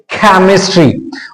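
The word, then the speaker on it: chemistry: हो और वहां पर सी के बाद में जब एच आता है तो उस एच सी के साथ में एच को हम कई बार के रूप में पहचानते हैं तो यहां पर देखिए इसको हम पढ़ेंगे केमिस्ट्री और इसका फोनेटिक ट्रांसक्रिप्शन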